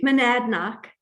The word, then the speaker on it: Monadnock: And since 1993, Susie Spikol has been a naturalist for the Harris Center for Conservation Education, located in the Monadnock? How do you pronounce that, Susie? Monadnock.